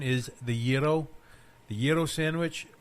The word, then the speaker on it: gyro: Island however the most people call it a gyro the actual pronunciation is the yo the yo sandwich it's got to be my